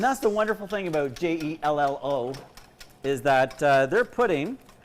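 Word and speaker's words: Jell-O: celebrate your glorious j-e-l-l-o it's a company that rhymes with hello it rhymes with mellow it's called jello jello but you can also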